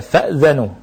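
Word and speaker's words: فَأْذَنُوا: Kalau Hafiz bacanya fa'dhanu, kalau Asim riwayat Syu'bah bacanya fa'adhinu. Fa'adhinu. Ya. Ini cara baca yang pertama. Jadi fa'dhanu dari kata azina, ya'zanu, i'dhan. Ya. Hamzah yang pertama itu hamzah disukunkan. Ya.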